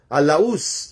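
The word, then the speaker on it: Laos: and even po ng Laus or Lao ang pag-pronounce nila.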